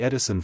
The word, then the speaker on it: Edison: It is a curious fact that in the Edison family the pronunciation of the name has always been with the long E sound, as it would naturally be in the Dutch language.